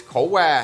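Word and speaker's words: khổ qua: Or I also like that it works, that in Vietnamese, bitter melon is co qua, that's how you say it.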